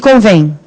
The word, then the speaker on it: convém: E convém? Qual é a sílaba tônica de convém? Começa pela sílaba tônica. Qual que é? É o vem.